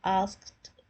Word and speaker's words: asked: It ends with a T kind of pronunciation because PKT, these letters, if the words end with PKT sound, the ED is not sounded as asked. It is pronounced as asked. T sound. Asked.